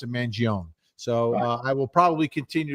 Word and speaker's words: Mangione: Okay, JM Vinny, why are you mispronouncing Luigi's last name? It's Mangione.